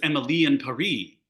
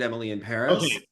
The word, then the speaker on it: Emily in Paris: show I I and I thought it was Emily and perie wasn't it supposed to rhyme oh maybe but it's say they pronounce it Emily in Paris um listen the whole